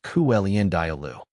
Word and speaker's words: Calendula: mentioned earlier how to pronounce cingula cingula is pronounced kelend dialo how tall does cingula grow cingula plants typically